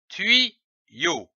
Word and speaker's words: tuyau: Lorsque l'Y est placé entre deux voyelles, il se prononce comme un double I.